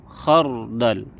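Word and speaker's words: خَرْدَل: maka cara membacanya tebal contohnya Maryam khardal rnya tebal Mar khar tebal itu contoh saat fathah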